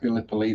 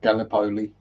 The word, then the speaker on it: Gallipoli: the 25th and yes it is pronounced Gallipoli not Gallipoli it's not some kind of pasta foreign feeding shrimp as